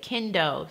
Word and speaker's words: Kendo: it's made with kinto I think it's how that's how you say it kendo see it's ke and do and they are currently